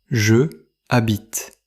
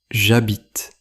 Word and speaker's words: j'habite: Attention, le verbe habiter commence par la lettre H. Avec ce verbe, nous ne disons pas « je habite ». Ce n'est pas correct. En français, avec certains mots qui commencent par un H muet, je devient J plus apostrophe plus verbe conjugué. Nous écrivons donc j'habite.